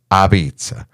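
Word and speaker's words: apizza: a place called Sally's Abizza. Abizza, Yeah. right? So that's a Neapolitan pronunciation of pizza, right? Abizza. Abizza. We usually take the last vowel and we put it before the word.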